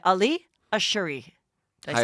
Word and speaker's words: Ashouri: You wanted me to say Ali Ashouri.